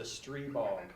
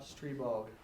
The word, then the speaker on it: Stribog: It's a Streebog.